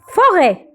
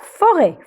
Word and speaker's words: forêt: Forêt. On ne prononce jamais le T à la fin. Alors, voilà, forêt.